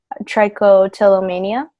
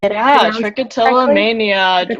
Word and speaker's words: trichotillomania: to be talking about tri-coat illa mania sorry trichotillomania one of the longest